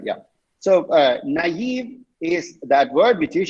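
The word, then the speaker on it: naïve: can see that right there are two dots above the eye who can say the right way wow that's beautiful what did i say yesterday beautiful the last person said so sweet naive that's okay uh have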